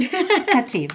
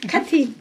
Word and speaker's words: Khatib: Her name is Aisha Khatib. Am I saying it right? Khatib. Khatib.